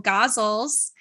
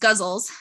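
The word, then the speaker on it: ghazal: So I have written a couple gauzles or guzzle. I think it's pronounced guzzles.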